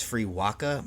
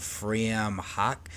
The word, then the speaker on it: Frewaka: It looks like it's Freewaka, but I actually don't think that's how you pronounce it because this is an Irish title. It is phonetically in the spelling of Irish language word of Fream Hawk, which we will come